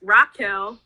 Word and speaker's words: Raquel: minutes to 30 minutes, my name is Raquel, not Rachel. A lot of people say Rachel, but it's Raquel. It's like spelled like, I guess how a lot of people spell or say Rachel, but it's pronounced Raquel, so it's Raquel.